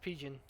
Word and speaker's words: PGGN: It's Pigeon. It's pigeon, like the bird.